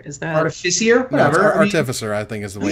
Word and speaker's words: Artificer: Is that how you say it? Artificer? Artificer? Artificer? I always thought it was Artificier. Is that Artificier? Whatever. No, Artificer, I think is the way you say it.